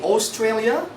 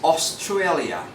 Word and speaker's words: Australia: Don't say Australia. This is Australia.